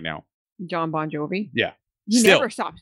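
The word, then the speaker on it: Bongiovi: John Bon Jovi, which actually his last name is Bon Jovi. It's just spelled with a G-I.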